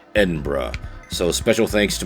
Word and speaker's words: Edinburgh: video I pronounced it wrong it is not pronounced Edinburgh it is actually pronounced Edinburgh so a special thanks to my friend in